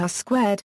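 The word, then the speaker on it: R²: In statistics, the coefficient of determination, denoted a 2 or a 2 and pronounced R-squared, indicates how well data fit a statistical model, sometimes simply a line or curve.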